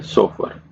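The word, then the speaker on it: chauffeur: यह दिखने में ऐसा लिखा हुआ है कि spelling C एच ए U double F ई यू आर है। हिंदी में इसको प्रोनाउंस कैसे किया जाता है? सोफर ए पर्सन हु जो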